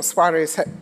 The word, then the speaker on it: Suares: where does the name suis or suarez is how it should be correctly pronounced come from and um